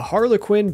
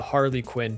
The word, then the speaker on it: harlequin: a new bug a harlequin butterfly before I knew how to pronounce it correctly I was calling it the Harley Quinn butterfly which I think sounds a lot cooler after catching the Harlequin